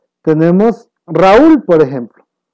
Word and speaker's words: Raúl: Tenemos Raúl, por ejemplo. Raúl es una vocal abierta A y una cerrada U. Pero ¿qué es lo que pasa? Como se encuentra acentuada, se considera como un hiato.